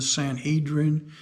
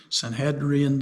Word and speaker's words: Sanhedrin: who were in the sanhedrin saint hedrian depending on which way you want to pronounce it i had a place